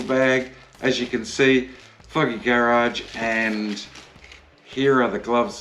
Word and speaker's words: Fogy Garage: pronunciation and it is foggy garage as in foggy and garage and these are handmade